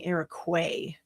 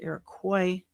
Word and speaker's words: Iroquois: I was saying Iroquois. It's Iroquois. Iroquois.